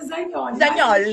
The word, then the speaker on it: Zagnoli: no italiano se pronuncia Zagnoli, mas a gente fala Zagnoli.